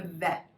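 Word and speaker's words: ב: with me excellent excellent now when we don't have a dot in it this letter actually becomes a v that okay instead of bet it's can you do that with me so when you create the bait the name doesn't change it just has two different sounds a bet and a vet so when you're creating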